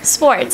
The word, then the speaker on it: Swartz: Swartz, how do you pronounce that, Shelby? Swartz. Swartz, okay.